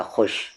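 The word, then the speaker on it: خوش: है बूढ़ी औरत खुश खुश में वाव लिखा जाता है लेकिन व वाव हमेशा साइलेंट होता है खुश हो गई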